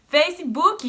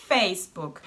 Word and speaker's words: Facebook: Fac-ee-book-e in English is Facebook. But not only in English. Here in Germany it's pronounced the same way.